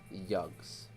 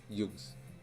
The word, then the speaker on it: Jags: It's Jags is pronounced yugs. It's yugs. Okay, cool.